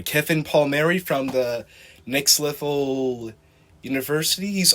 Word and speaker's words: Palmieri: have here a guest Kevin how do you pronounce her last name um Paul Mary kiffin Paul Mary from The Next Level universities also a host